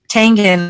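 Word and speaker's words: Tangen: her higher self's name my name is t-a-n-g-e-n tangan my very um honored pleasure to meet you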